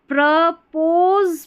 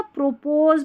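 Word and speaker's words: propose: यहां पर ओ का साउंड अ है। तो प्रपोज पढ़ेंगे या प्रोपोज पढ़ेंगे? प्रपोज पढ़ेंगे।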